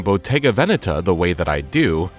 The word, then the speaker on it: Bottega Veneta: botega veneta people saying botega vanetta but for this video we've decided to stick with the original italian pronunciation from the beginning bottega's